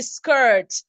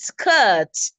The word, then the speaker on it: skirt: the R so much that you find it in it's the Americans that will say skirt but really for the British it is skirt the R goes silent but it is there nonetheless okay I know that